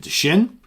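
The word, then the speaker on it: Dschinn: Deschinn. D as in David, Schinn, Deschinn.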